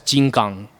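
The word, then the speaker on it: 金刚: yeah yeah from theie movie it's it's actually pronounced as Jin gang so Jin means gold and then gang means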